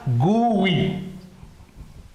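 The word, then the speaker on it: GUI: abbreviations of graphical user interface and it is pronounced as gooi goo goo if you want goo goo yeah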